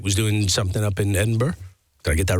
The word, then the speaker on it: Edinburgh: Uh, and then last night was doing something up in Edinburgh.